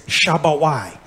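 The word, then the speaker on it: שבועות: so it's Shabba why how do they pronounce it in modern day Hebrew Shavuot there ain't no tea on this word anybody ever heard of shavu Wilt there's no V in Hebrew either that's weird there's only a b it's Shabba y okay now how we pronounce it Shabba y that means weeks technically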